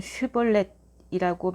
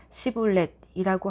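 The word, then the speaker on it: 쉽볼렛: 그가 아니다 라고 하면 그들은 슈볼렛이라고 말해보라고 했다. 하지만 에브라임 사람은 언제나 시볼렛이라고 하여 제대로 발음하지 못했다.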